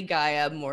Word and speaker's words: Gaia Morrissette: and I'm co-hosting this with the amazing lovely guy amore is that do I say that right you did okay good people pronounce my last name wrong so but we